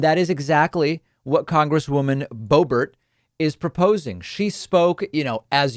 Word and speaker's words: Boebert: Radical Trumpist Republican Congresswoman Lauren Boebert, or Boebert, for those who prefer that pronunciation.